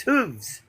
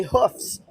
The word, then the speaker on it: hooves: It's hooves.